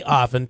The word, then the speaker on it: often: not hard just say often t is silent and it's the classic way it's how you should speak and if you of all people who spelled the classic way, right?